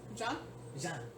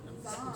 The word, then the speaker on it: Zahn: John? Jean. Same name as the captain? Like captain? No, Jean. It's spelled with a Z. Oh, Zahn. Zahn.